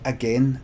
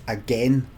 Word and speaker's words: again: Again, am I right in saying the word again is to be pronounced again, N, not again, like the word gain.